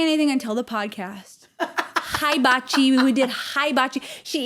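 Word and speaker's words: hibachi: my cool yeah so for Thanksgiving we did hiachi sayar hiachi what was the what's the first syllable hiachi she's going hiachi like and she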